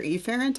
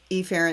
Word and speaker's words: efferent: it back out do i go afferent or efferent i go efferent again but this time do